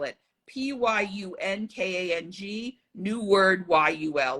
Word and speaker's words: Yul: it p-y-u-n-k-a-n-g new word y-u-l like Yul Brenner okay yeah okay but